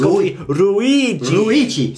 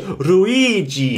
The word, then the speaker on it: Luigi: Luigi Luigi oh no the not the L when you say Ru it's ruigi see the I being pronounced in your M ruigi I've got it ruigi yes you've got to drag the eye out ruigi and p p